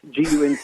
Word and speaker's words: Gunter: We pronounce it Gunner. It's Gunter. Yeah. The T is silent, of course, because we're Texans.